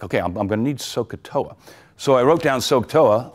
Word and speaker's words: SOHCAHTOA: It took me like 5 minutes to figure out I left out the H's. So ever since then, I give it the guttural pronunciation, SOHCAHTOA, okay?